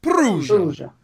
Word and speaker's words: Perugia: Perugia.